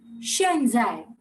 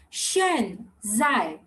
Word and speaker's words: 现在: So right now is X is Shatkon ka sh and Z again ch or j. So it will be Shen Zai. Everyone repeat after me. Shen Zai. Again. Shen Zai.